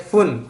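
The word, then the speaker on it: 分: Dan terakhir fun, atau fun juga bisa, artinya menit, atau bung juga bisa. Fun, pun, bung itu bisa. Itu perubahan bunyi aja ya.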